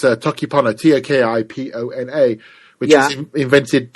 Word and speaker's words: Toki Pona: Well, if I'm pronouncing it correctly, it's Toki Pona, Tokipona, which was invented not long ago, actually, by a woman called Sonia Lang.